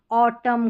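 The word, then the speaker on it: autumn: यहां पर देखिए एम और एन के कॉम्बिनेशन और एन लास्ट में जो आ रहा है ना वह साइलेंट। ऑटम कॉलम और पढ़ेंगे तो पढ़ा भी नहीं जाएगा।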